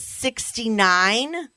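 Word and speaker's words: 6ix9ine: You pronounce it 69, but it is spelled number 6, I-X, number 9, I-N-E.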